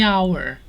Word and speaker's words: hour: Before a vowel sound, we usually say the apple, the umbrella, the hour, because the H here is silent.